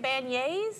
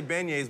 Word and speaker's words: beignets: yeah man and uh is that how you say it ban yays have i been you've been saying it wrong no it's i say beignets but that you that's